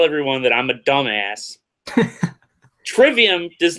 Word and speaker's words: Trivium: ] Falls accident alright guys so we're gonna pronouncing our tribe iam Trivium for a long time Tribune no I'm okay with that Trivium treyvion there